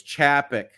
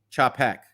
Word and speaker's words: Chapek: like the reference okay you are pronouncing chappick's name wrong it's chapik chop heck uh I'm never gonna